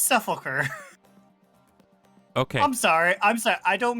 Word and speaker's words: Sepulcher: It's Sepulcher.